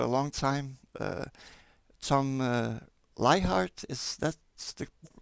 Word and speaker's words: Leichardt: have admired for a long time uh tom lie heart is that's the correct way to pronounce it yeah uh and the tom uh